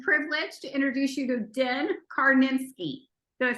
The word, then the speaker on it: Din Karnitskiy: I'm so excited and honored and privileged to introduce you to Den Karnitskiy.